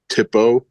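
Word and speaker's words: THPO: Tippo is how you say that.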